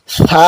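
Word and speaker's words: ث: সা কিন্তু জিহ্বার আগা থেকে উচ্চারণ হবে। জিহ্বার আগাটা সামনের উপরের বা নিচের যে দুটি দাঁত আছে এই দাঁতের আগার সাথে লাগিয়ে হালকা বাতাস বেরিয়ে উচ্চারণ করতে হবে।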